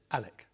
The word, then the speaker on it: Alex: Now, before we go any further, and for those viewers who are tempted to write to me, it's spelled Alex, but Alex pronounces it Alec.